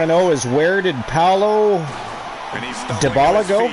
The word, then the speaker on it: Paulo Dybala: What I want to know is, where did Paulo Dybala go? Is that how you pronounce that? Paulo Dybala? Yeah, you actually said it right.